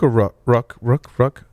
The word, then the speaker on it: Rook: right is it rook ruck i i pronounce it rook i'm sure at some point in history it was rook but yeah i think it's it's just like the chess piece or the bird that's um paul pronounces